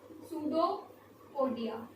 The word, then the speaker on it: pseudopodia: क्या pseudo, p s u p silent होता है, pseudopodia।